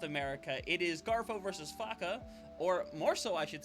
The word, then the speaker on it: faca: We both thought last week it was FAA. No, it is actually Faka.